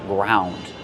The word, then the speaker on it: ground: In the past, ground. I ground the pepper with a pepper mill. How do we pronounce it? Ground. Use the ow sound like around and about.